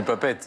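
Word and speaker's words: Papeete: Alors, vous avez vu comment on le prononce? Papé-été. Oh, non, Nous, on le dit papette. Oui. on n'est pas pète. Oui. Mais là, Alors c'est que pas papé-été.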